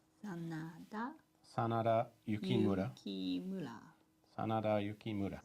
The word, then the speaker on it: Sanada: Sanata. That's a D. That's D. Sana. Sanada.